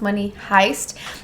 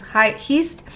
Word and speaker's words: Money Heist: joke or something but it's pronounced money heist and then we actually went on google and did the pronunciation and it's heist so he was right the very first time but then you guys completely clouded his mind and then said it was hi East maybe they were